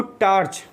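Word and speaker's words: torch: Generally हम लोग क्या सोचते हैं, इसको टार्च कहा जाए, देखा जाए तो एकदम गलत है। पहली बात तो आर के बाद कोई वॉबल साउंड नहीं है तो आपको आर नहीं बोलना है, करेक्ट। ओ को आ बोलना है तो इसका जो प्रोनाउंसिएशन होगा टॉर्च।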